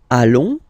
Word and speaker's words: allons: Then, nous, so we, plural form, nous allons, okay? And if you, so final S not pronounced, and then if you